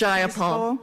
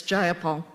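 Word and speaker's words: Jayapal: takeover it was just jaul if you're going to say my name please say it right it's jaia Paul jaia Paul do you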